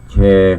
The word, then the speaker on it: แชร์: ก็ เมตตา ได้ กด แชร์ สระแอ ช ช้าง ร เรือ การัน อ่าน ว่า แช์ กด แช์ ไป แ